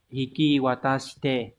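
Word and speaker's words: 引き渡して: Câu số 3 này, từ này đọc là hiki watashite.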